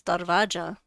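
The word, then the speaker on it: दरवाज़ा: Okay, I guess it's Darvaja. Um door and sometimes the V is pronounced like a W.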